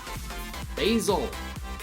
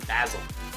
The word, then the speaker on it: basil: and the green part basil or basil if you want to pronounce it wrong shots at england question